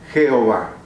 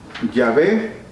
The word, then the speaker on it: Jehová: Y utilizando el nombre Edonai, que significa el Señor, tomaron las vocales E, O, A y las intercalaron entre el tetragrama JHWH. Y así ellos lo comenzaron a pronunciar Jehová. Pero no importa que digamos Yahvé o que digamos Jehová.